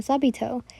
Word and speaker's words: Sabito: sister are Sabi I always always say his name wrong uh sabito it felt good though everything was good and